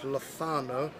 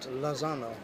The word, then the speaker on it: Lozano: pericone not pedro and it's lothano it's not lazano so uh so just